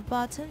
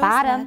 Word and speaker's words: bottom: The time scale at the bottom shows bottom, that not bottom. That's British. At the bottom. At the bottom. Ba, 不是 bo, ba. Everyone, bottom.